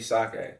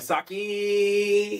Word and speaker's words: sake: sake it's Mo so supposed to be sake for real but uh I have a song called sake it's good in the song I say dripping just like saki you feel me pronounce